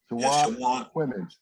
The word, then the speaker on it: Chowan: And forgive me, I'm a lifelong North Carolinian, but I don't know how to pronounce these county names, Chowan and Perquimans counties in Eastern NC. Chowan.